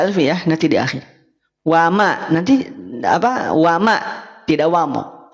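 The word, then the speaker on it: وما: Bunda Elvi bukan w bukan wamallah tapi wama wamallahu wamallahu wama lafad Allah wama lafad Allah wamallahu bukan wamo Awas kenapa bisa jadi wamo karena fokus pada lafaz Allah paham sampai sini bisa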